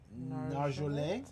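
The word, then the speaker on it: Nargeolet: It's French, so you have to kind of twist the end. It's Narjolet.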